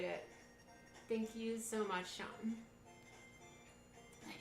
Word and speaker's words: Sean: Thank you so much, Sean. Night, it's not Sheen.